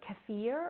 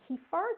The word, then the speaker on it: kefir: Dairy versus non-dairy, kefir or kefir, depending on how you pronounce it.